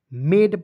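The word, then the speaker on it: made: और दो कंसोनेंट के बीच में ए आएगा उसका उच्चारण ऐ के रूप में करेंगे। ठीक है? और इ आएगा दोस्तों इसके लिए एक इकले का प्रयोग करेंगे। समझ गए? मेड पढ़ेंगे दोस्तों।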